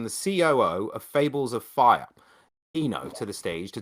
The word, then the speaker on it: Fyra: fire or fire it's fables of fire us so uh yeah we've got some debate on it but it definitely is fire oh man it's not